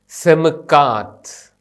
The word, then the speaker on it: Semkath: പോകുന്ന ആദ്യത്തെ അക്ഷരത്തിന്റെ പേര് സെമിക്കാത് സമുക്കാത് ഈ അക്ഷരത്തിൻറെ ഉച്ചാരണം ഇംഗ്ലീഷ് അക്ഷരമാലയിലെ അക്ഷരമായ എസ്സിന്റെതുപോലെയാണ് ഇതിൻറെ അക്കം സംഖ്യ ന്യൂമറി